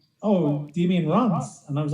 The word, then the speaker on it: Reims: Yeah, it's pronounced Reims, but it's spelled Reims.